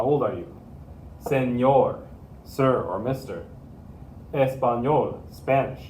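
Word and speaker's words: señor: don't use that word this becomes senor senor most people probably won't even recognize your meaning to say senor if you say so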